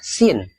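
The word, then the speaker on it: سين: tengah ini di akhir namanya Sin Sin ini mirip kayak huruf s dalam bahasa Indonesia sa si su 13 ada huruf mirip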